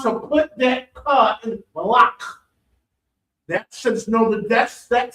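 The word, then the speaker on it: malach: And this malak is not to be mixed up with malak, which means king. That's what the word malak with a soft K is king in Hebrew. Nope, CH. M-A-L-A-C-H. And this is the difference. This malak has a hard cut.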